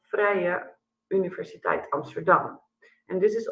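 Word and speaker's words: Vrije: um and maybe you you wonder how to pronounce the name so in Dutch we are called Freya University Amsterdam and this is also the name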